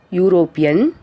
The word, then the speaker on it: European: A European, a university, a 1 rupee coin, a one-eyed man means here U in a European, U is pronounced U itself.